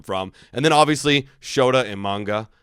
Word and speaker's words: Imanaga: And then obviously Shota Imanaga, right? I'm pretty sure. Am I pronouncing that right?